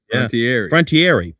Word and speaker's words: Frontiere: It was then Los Angeles Rams owner Georgia Frontiere. It's a French pronunciation. Frontiere announced she was moving the team to St.